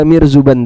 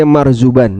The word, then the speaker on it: marzuban: Para jawara, kerajaan yang lewat itu masyarakatnya sujud kepada Mirzuban tadi. Di sini bacanya marzuban ya.